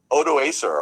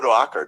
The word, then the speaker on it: Odoacer: when the Germanic ruler, general Odoacer, or Odoacer, depending on how you pronounce it, is able to oust the emperor in Ravenna.